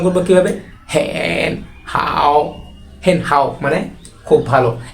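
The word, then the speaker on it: 很好: আমি ভালো আছি এর চাইনিজ হচ্ছে হ্যান হাউ উচ্চারণ করবো কিভাবে হেন হাউ হেন হাউ মানে খুব ভালো এখন দ্বিতীয় বন্ধুকে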